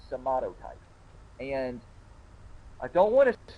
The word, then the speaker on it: somatotype: take into consideration is your somato type that's how to pronounce it's somato type and I don't want